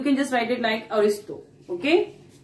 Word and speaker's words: Ariosto: है, बट यू can just right it like अरिस्टो. Okay, the spelling is ARIOSTO, अरिस्टो. Clear? ARIOSTO, Aristo.